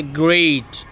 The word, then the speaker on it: Grade: আমরা এটাকে অনেকে বলি কি গ্রেট, না এটা সঠিক নয়। সঠিক প্রনাউন্সিয়েশন হচ্ছে গ্রেট, নট গ্রেট। গ্রেট এটা হচ্ছে ভুল উচ্চারণ।